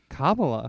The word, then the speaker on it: Kamala: Every now and then I'm like, yeah, I'll vote Kamala Harris because You got this. Ka. Yeah. Ma. Yep. La. Put it together. Kamala.